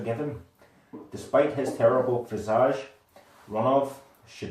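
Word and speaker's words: Ronove: I'm gonna go with the pronunciation of Ronov. Ronov, also Ronway, is a Marquis of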